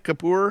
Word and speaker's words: Kapur: Am I saying it right, Kapur? Yeah, Kapur.